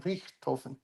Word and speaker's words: Richthofen: Baron von Richthofen.